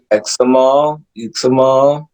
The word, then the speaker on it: Uxmal: One of the places that James Wood talks about throughout the book is uh, I don't want to mispronounce it, but it's Examal Temple.